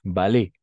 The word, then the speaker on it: ballet: Ballet. Le ballet. ¿Está? Hasta la E nomás. Si está al final, la T no se pronuncia.